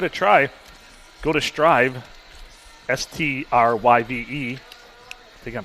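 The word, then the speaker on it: Stryve: it before give it a try go to strive s-t-r-y-v-e i think i'm pronouncing that right strive i would say that's kind of a wild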